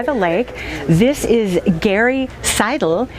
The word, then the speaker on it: Seidel: This is Garry Seidel. Anglicized, it would be pronounced Seidel. That's how I take it.